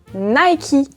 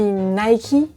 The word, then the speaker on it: Nike: Et pourtant, vous, les Américains, les Britanniques, les anglophones, vous prononcez cette marque Nike. Comment ça, on dit Nike? Moi, j'ai toujours dit Nike.